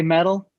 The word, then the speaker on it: Medel: So my page on Instagram is Medel Boots, and it's MEDEL Boots. You guys say metal, I'm cool with that too.